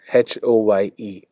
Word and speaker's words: Oye: And how do you spell it? Tell me. OYE, OE, HOYE, Hoy.